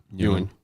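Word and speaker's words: Nguyen: How would you pronounce that? New. It's not that traditional Viet New.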